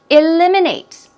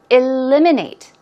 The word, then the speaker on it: eliminate: Eliminate. Stress goes right there on the second syllable. Eliminate.